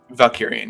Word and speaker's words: Valkyrian: So Valkyrian is did I pronounce that correctly, right? Valkyrian, yeah. Valkyrian.